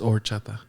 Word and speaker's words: horchata: Don't mention the H. Don't pronounce horchata? It's just horchata.